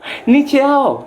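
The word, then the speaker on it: नीचे आओ: Nicheao. Nicheao, turunlah. Tulisannya niche spasi ao, tapi dibacanya nicheao.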